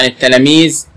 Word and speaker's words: التلاميذ: طبعا التلاميذ اللام ايه؟ شمسية. احسنتي. التاء الاولى مشددة، التاء الاولى ساكنة مع اللام الشمسية.